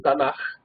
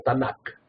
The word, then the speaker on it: Tanaj: final, y por eso se pronuncia suave como J y no como K. ¿Okay? Entonces sería como un Tanaj, no como Tanak.